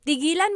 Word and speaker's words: tigilan: But if you say, tigilan mo yan, that means stop that. Okay, so again, that glottal stop is important for proper pronunciation because they mean different things otherwise.